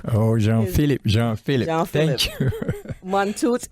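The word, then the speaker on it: Jean Philippe: i l i p p e and it's pronounced Jean Philip oh Jean Philip Jean Philip John phip monot m o n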